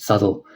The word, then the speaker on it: subtle: It's his most subtly, how do you pronounce that word? It's a very subtle, that's how you pronounce it, subtle.